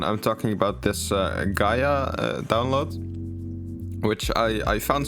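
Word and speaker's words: Gaea: didn't work for some reason but it's uh Gaia it's pronounced Gaia it's how the the like Latin word is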